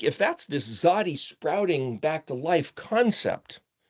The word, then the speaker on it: Tzadi: And so I spell it, just so you know, with a capital T and then a lowercase Z. See, because that's the pronunciation. Tz Tzadi. But you put it together, tzadi. It's not an ST and it's not a TS. Close to a TS, but it's a TZ.